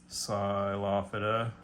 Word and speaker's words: Psilophyta: Starts with a silent P, Psilophyta.